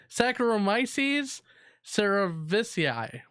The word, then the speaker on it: Saccharomyces cerevisiae: drinking habit doctors found the fungus Sarah good Saccharomyces cerevisiae no I actually had to google that to learn how to pronounce it by the way our Brewers jeez